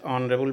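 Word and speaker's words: honourable: Pandit Nehru was Pandit Nehru was dash ऑनरेबल मैन। यहां देखिए यहां पर वोवेल की तरह उच्चारण हो रहा है। प्रोनंसिएशन पर निर्भर करता है।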